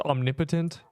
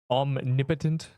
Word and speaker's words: omnipotent: By the way, that word is pronounced omnipotent. Omnipotent.